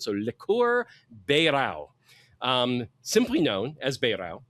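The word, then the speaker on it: Beirão: I'm pretty sure it's pronounced ber. The ei in Portuguese is always an a sound. So, leour beo.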